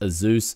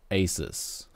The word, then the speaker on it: Asus: card next up chunk says it's a Zeus and not Asus actually this is a